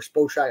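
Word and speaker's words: Spotrac: cap side on uh spot Rack or SPO track I don't know how you pronounce it but uh track okay confirmed it's SPO track um especially down here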